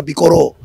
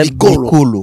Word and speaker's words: bikolo: Alors ba missionnaire minder tango bakendeki ko prononcer bikolo bango bikoro. OK. Awana bikoro alors mikande ko ti bikoro to ko prononcer bikoro. En réalité, c'est bikolo les nations.